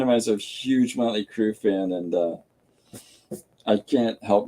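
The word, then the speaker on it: Mötley Crüe: That's how you pronounce that, by the way. Because Motley Crue has umlauts above the O and the U, and an umlaut denotes hard consonant, soft consonant. So, or hard vowel, soft vowel.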